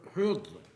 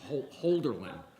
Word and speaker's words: Hölderlin: a section on, Holderlin is one of the, Hölderlin, it's not Holderlin, which I prefer, but Hölderlin has, You didn't know his own name was pronounced.